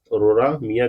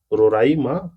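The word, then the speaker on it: Roraima: Mount रोरा मिया जो रोराइमा, sorry for this wrong pronunciation, तो रोराइमा लिखा हुआ है, ये मैंने गलत बोल दिया।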